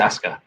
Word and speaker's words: Asuka: name because i i it looks like asuka but the accent says um yeah because regal says ask her doesn't he it's oscar here's oscar okay then